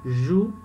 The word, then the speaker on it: jouent: No verbo jouer, não. Nós paramos de pronunciar aqui no U.